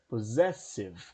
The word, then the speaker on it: possessive: Então perceba que eu tenho, apesar dos dois S's, eu tenho um Zzinho aqui. Significa que nesses dois S's eu tenho o som de Z.